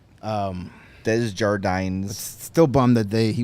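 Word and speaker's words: Desjardins: and uh yes or de jardin as he pronounced it the American way um Dez jardines still Bumm that they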